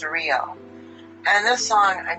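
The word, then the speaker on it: Riell: The pronunciation is real.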